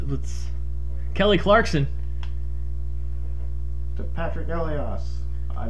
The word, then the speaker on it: Elias: pickpocketed uh what's what's kelly clarkson to patrick elios i'm not a hockey person please correct me no no you said it right elias one timer oh that was it was more